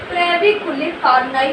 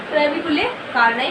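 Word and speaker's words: trabeculae carneae: ट्रेविकुले कार्ने क्या बोलती है? ट्रेबिकुलर कार्नाई बोलते हैं, ठीक है, ट्रेबिकुलर कार्नाई बोलते हैं, ठीक है।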